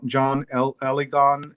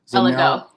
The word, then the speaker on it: Eligon: names right, but John Eligon and Eligo. Sorry? Eligo. You don't pronounce the N.